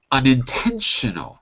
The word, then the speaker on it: unintentional: Unintentional. Notice where the stress is. Unintentional. Right? So it's on the 10.